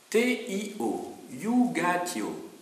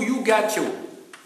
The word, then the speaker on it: iugatio: C'est la iugatio, J-U-G-A-T-I-O, iugatio, ou jugatio, si vous voulez, hein, si c'est mal prononcé, la iugatio.